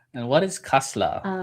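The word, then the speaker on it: Kasseler: Uh K A S E L E R Kasla. Kasla. And what is Kasla?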